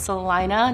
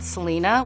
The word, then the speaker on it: Salina: Kansas is my hometown of Salina and it's pronounced Salina not Salina I think California's best city is Santa Barbara